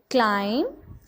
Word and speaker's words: climb: We don't pronounce the letter B because it is silent letter.